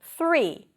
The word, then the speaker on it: three: So here you stick the tongue out for the th and you pull it in for the r really quickly. And you want to hold the r a little bit. th. Round your lips. Then you move to the vowel right after the R.